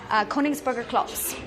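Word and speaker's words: Königsberger Klopse: How do you pronounce that? Koningsburger Klops.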